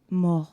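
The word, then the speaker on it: mort: I'm not I'm saying mo weird, but mo like it's spelled m o r t.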